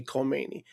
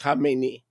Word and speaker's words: Khamenei: One side note, isn't it interesting that the Ayatollah Khamenei, and by the way, people can't pronounce it. They say Khomeini. That's not Khomeini. Khomeini is the guy that he succeeded. Okay, it's Khamenei.